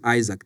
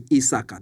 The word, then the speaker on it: Isaac: So, but again, since they down in the village, they couldn't pronounce the name Isaac. They call me Isaka. That's in my tribal language is Isaka. But so that's my name. It's just Isaac, and then my last name.